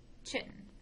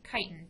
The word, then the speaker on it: chitin: unique component of their cell walls, known as chitin or chitin, depending on how you want to pronounce it.